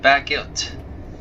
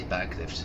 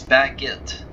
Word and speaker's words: Bagillt: me, not it's called Baggilt, which closed in 1976. Why did I say Bagliffe? That was very not a very good idea to say that. No, it's Baggilt, which is spelled as Bagillt.